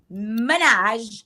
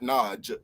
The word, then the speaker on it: Minaj: Minaj. Say it, Christian, one time. Minaj. Okay, Minaj, not Naj. Is Naj. Okay. Yeah, Naj, like Jones.